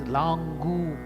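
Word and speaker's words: लाङ्गूल: Gu is also elongated. Should not tell Langu. It is Langu.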